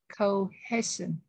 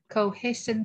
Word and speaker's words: cohesion: Khi thì để xem thì đọc là chữ E này, nó đó lúc E cái đọc, khi đọc E khi đọc Y, dành ra nhiều khi mình không có để ý á. Họ đọc là cohesion. Y nha, cohesion.